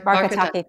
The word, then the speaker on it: Barkataki: I'm not going to pronounce her last name correctly. Barkataki, thank you.